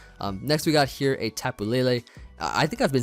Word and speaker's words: Tapu Lele: previous live, I'm gonna go ahead and say Tapu Lele.